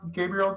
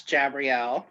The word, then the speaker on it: Gabrielle: That brings us to Gabrielle. Are you still with us? I'm here. Excellent. You butchered my name, dear. It's Jabrielle.